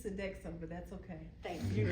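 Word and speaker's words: Sodexo: Visa General Electric SED sedo I'm not pronouncing that right am I is it sedo it's sedexo but that's okay thank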